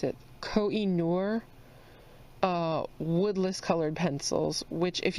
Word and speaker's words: Koh-i-Noor: The colored pencils that I'm using today are, I believe this is how you pronounce it, Koh-i-Noor woodless colored pencils, which if you have never